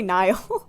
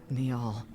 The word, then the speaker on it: Neil: Oh, Neil. That's how you pronounce. I say Niall.